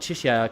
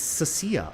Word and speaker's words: Cecia: Actually, it's not Chisha cuz that's basically the character from Withering Waves. It's Cecia. Lady Cecia, please make sure you pronounce her name properly.